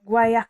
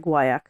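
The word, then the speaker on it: guaiac: they're guak um they it's guac like well it's g u a i a c so I'm assuming it's like guak yeah yeah guak cards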